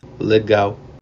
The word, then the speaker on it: legal: When L comes at the end of a word, it's pronounced as W, like in the word, Legal.